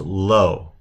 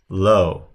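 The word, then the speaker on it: לא: So the aleph is silent, so it's pronounced low, low.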